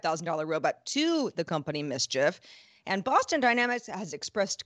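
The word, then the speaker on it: MSCHF: a project from a company called mischief that's spelled ms chf it's a brooklyn-based ideas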